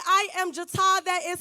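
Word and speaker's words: J'TA: Okay, so like Lexi said, I am Jata. That is spelled J apostrophe capital T capital A.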